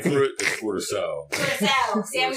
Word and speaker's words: Curaçao: The real name for it is Curaçao.